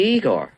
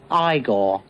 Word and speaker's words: Igor: You must be Igor. No, it's pronounced Igor. But they told me it was Igor. Well, they were wrong then, weren't they?